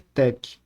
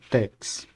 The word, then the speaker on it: TeX: com muitas notações Matemáticas a palavra Tec deriva das três primeiras letras da palavra tecnologia em grego o sugestão do próprio Donald na a pronúncia deve ser Tec não Tex mais tarde em meados